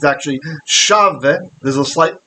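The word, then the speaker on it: שָׁוְא: Shav yedaberu ish et ra'ehu, sefat chalakot. So shav, we should know this word, shav, or in this case it's actually shave, there's a slight pronunciation.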